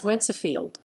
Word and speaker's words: Wednesfield: of Toronto Library, that the place name Wednesfield is pronounced by the local populace as Wencefield.